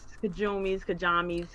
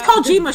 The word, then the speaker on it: Kojima: In light of old boys, Kajamis, whatever. It's Kojima, Cherise.